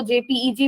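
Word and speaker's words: JPEG: कुछ लोग उसको जेपीईजी भी कहते हैं, जेपैग भी कहते हैं, बहुत सारी उसकी डिफरेंट प्रोनाउंसिएशन है, लेकिन बेसिकली वो इमेज फॉर्मेट है और उसका नाम होता है जेपैग, जो कि ऐसा दिखता है।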